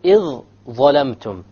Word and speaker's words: إِذْ ظَلَمْتُمْ: We merge the dha with the alif and we drop the dhal sound. Whatever is heavier, because even if you try to pronounce the dhal and then the dha, إِذْ ظَلَمْتُمْ, you cannot do it properly.